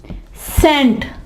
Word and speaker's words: scent: और इसके यहां पे देखें सी साइलेंट है, सेंट। देखें सी लिखा तो जा रहा है लेकिन अब यहां पे सी को पढ़ा नहीं जा रहा। सेंट, ऐसे जैसे SENT, सेंट नहीं, ये फिर हमारे इसके स्पेलिंग जो है वो रॉन्ग हो जाएंगे। हम क्या करेंगे कि SCENT, सेंट, ठीक है जी दोस्तों।